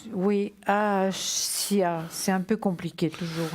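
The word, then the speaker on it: Hahasiah: Alors, il s'appelle Ahassia. Alors, ça s'écrit H-A-H-A-S-I-A-H. Et l'ange gardien des personnes nées entre le 3 et le 7 décembre. Ahasia. Oui, Ahassia.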